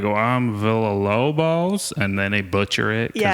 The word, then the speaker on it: Villalobos: Villalobos. Villalobos? Yeah, Oh, it's a Via. Yeah. No, so you don't pronounce the L.